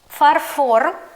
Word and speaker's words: фарфор: Ідемо далі: наступний матеріал - фарфор або порцеляна. Два варіанти. До речі у словах фарфор може бути подвійний наголос: фАрфор або фарфОр. Обидва варіанти будуть правильними.